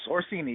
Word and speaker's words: Orsini: I'm terrible with pronunciation, so I got it right. Close. Orsini, yes.